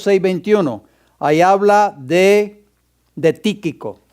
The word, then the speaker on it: Tíquico: ahí habla de de tíquico tíquico con acento en la i voy a ponerlo aquí